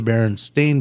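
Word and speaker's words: Berenstain: would correct and go, "No, it's the Baron Stain Bears." And she goes, "The easy way to remember it is the authors are also Stain."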